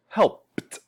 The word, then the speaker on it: helped: The last sound is p, and it's not voiced. It's more like the silent phone. So it's helped.